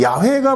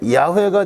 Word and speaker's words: 야훼: 근데 이 여호와라는 것은 라틴어로 발음한 것이 여호와라는 거고 그 다음에 이 YHWH 저게 어떻게 읽을지 모르잖아요. 그러니까 우리나라 말로 한다면 뭐만 있는 거예요? 자음만 있으니까 기역, 니은, 디귿, 리을만 있는 거예요. 모음이 없으니까 어떻게 읽을지 몰라요. 거기에다가 여기에 모음을 A를 붙여놓은 거예요. A하고 E하고. 그게 야훼가 되기도 하고 야훼가 되기도 하고 발음에 따라서 다른 거예요.